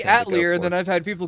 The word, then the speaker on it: atelier: phonetic I've I'd say atlier and then I've had people go you why don't you pronounce it the way it's supposed to because it's a French word so because I'm reading